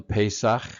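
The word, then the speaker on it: Pesach: same thing um again pesak is the Hebrew pronunciation and uh it it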